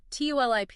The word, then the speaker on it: TULIP: So, TULIP is pronounced exactly like the flower.